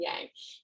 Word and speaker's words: yang: pick my jugular out you say yin and yang it's yang is how we pronounce it right so yang